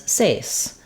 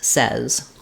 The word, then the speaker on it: says: But in the word says, suddenly the vowel changes to the eh sound, like in red tent. And so many people mispronounce this as sace because it would make